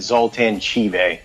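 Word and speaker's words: Zoltan Chivay: He pronounced it Zoltan Chive.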